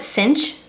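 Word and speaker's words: sinh: when you see this you can call it cinch that's just one of the ways it's pronounced or you can say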